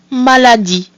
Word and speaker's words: maladie: So we have A, which is pronounced A, another A, which again is pronounced A. We have the letter I, which is E, and then the silent mute E at the end, which gives us maladie.